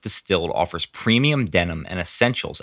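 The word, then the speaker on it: DSTLD: ollars then I found distilled DST LD pronounced distilled offers premium denim and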